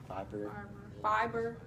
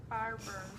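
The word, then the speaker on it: Faber: Fiber. Say Fiber. Farber. How you pronounce it? Farber. Oh, Farber.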